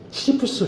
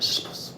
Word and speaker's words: 시시포스: 타이틀을 시지프 신화라고 붙였는데 반면에 영어권에서는 시지푸스 신화라고 보통 발음합니다. 그래서 시지푸스 하게 되면 영어권적인 발음이고요. 그 다음에 우리가 보통 그 읽고 그 발음을 할 때, 표기를 할 때, 그 뭐죠, 이제 그 자국화보다는 이제 그 발음을 살려주는 건데, 그래서 이게 이제 그 히라보로 보게 되면 시시포스입니다. 시시포스.